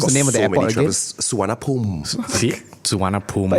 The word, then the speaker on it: Suvarnabhumi: Okay, it's a bit rarer in Bangkok because How do you Bangkok's pronounce the name of the got so many airport again? travelers. Suvarnabhumi.